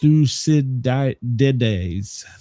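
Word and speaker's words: Thucydides: Uh, see, it's pronounced thusides. Thusidi.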